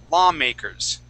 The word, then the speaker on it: lawmakers: here the word is lawmakers lawmakers okay uh we're not going to pronounce that W okay you would said La the word would be law law law law okay lawmakers okay okay uh law